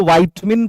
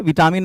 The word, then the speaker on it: vitamin: वाइटमिन की सही spelling VITAMIN, इसको वाइटमिन पढ़ते हैं, विटामिन मत पढ़ना, लेकिन अभी मैं प्रोनाउंसिएशन की क्या बात करूं।